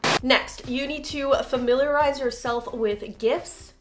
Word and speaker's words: gif: Después necesitan familiarizarse con los gifs o gifs, como lo quieran pronunciar. De todos modos este video no es sobre como pronunciarlo. Por cierto se dice gif.